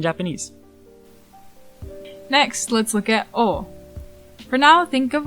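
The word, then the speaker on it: を: As a particle, O may get a slight inflection or accent when in a sentence, but I wouldn't call it a different pronunciation. Though in music or poems, and depending on the region in Japan, you might hear it sometimes pronounced clearly as wo.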